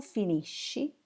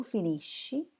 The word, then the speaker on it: finisci: Io finisco, tu finisci, egli finisce. Noi finiamo, voi finite, essi finiscono. Please note again the pronunciation. Finisco, finiscono, but finisci, finisce. And the interfisso isc doesn't appear in noi and voi.